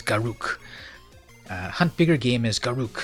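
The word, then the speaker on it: Garruk: game as Karuk well everyone calls it Garak right but I kind of like pronunciate as Karuk hunt bigger game is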